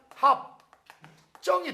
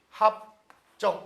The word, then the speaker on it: 합정: 읽을 때는 합정이 돼요.